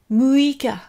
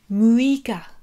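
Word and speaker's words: 六日: Le 6, muika. Donc ne confondez pas avec le 3, qui est mikka. Le 6, c'est muika. Ensuite, le 7, nanoka.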